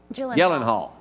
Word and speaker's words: Gyllenhaal: How you pronounce his last name? Jake? Gyllenhaal.